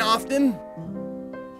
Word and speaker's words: often: that's that's the one do you pronounce the teen often i don't i say often i've got a